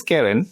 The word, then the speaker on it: cairn: Pronunciation is Karen.